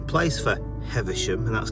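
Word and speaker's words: Heversham: I was actually in the wrong place for heathersham and that's correct how it's pronounced I thought it was down here but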